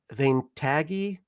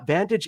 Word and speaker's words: Vantage: Ventagi. It's a open world in space. Vantage. Yeah. Sorry. Is it Vantage? I'm sorry, but the pronunciation was uh lost on me.